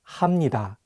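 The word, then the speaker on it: 합니다: might want to say but the correct pronunciations are actually imnida and hamnida then those are constant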